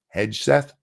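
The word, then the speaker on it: Hegseth: uh Pete Heth HTH I'm not sure how you say it is it a hard G hedg Seth he's um he's a Fox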